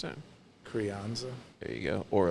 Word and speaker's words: Crianza: We love pink sauce with a rice, or with a nice easygoing red wine, such as, was it, how do you pronounce that? Crianza.